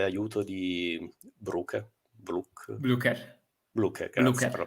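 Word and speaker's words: Blücher: fortuna e grande aiuto di Brook blook blooker bluker Grazie per la pronuncia BL va bene e allora Buona notte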